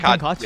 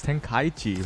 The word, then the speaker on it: Tenkaichi: Oh wait, it's not Tenkachi, yeah. It's Tenkaichi.